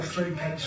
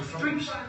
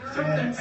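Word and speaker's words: thruppence: All 3 pence or thrupence. Thrupence.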